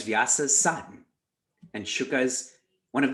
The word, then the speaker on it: Vyasa: play on words here vyasas is with a long a vyasa if you make that